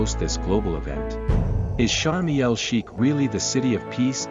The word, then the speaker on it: Sharm El Sheikh: Often abbreviated to Sharm, in Arabic it's pronounced Sharm El Sheikh. The Sha is a sun letter that absorbs the preceding L.